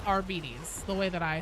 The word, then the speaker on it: Arbites: And that official pronunciation guide says Arbis the way that I say it.